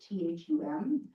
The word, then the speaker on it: Thum: So I am here recommending the select board award the lease to William Thum, I believe is how you say his last name, Thum, based on his submitted